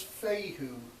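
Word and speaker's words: Fehu: is like this and the pronunciation is feijoo FEI posture signifies energy coming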